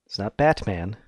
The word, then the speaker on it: Batman: reading the fact that whenever you say Batman you don't pronounce the T Batman its Batman in the